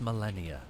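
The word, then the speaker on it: Malenia: Ah, the goddess Millennia.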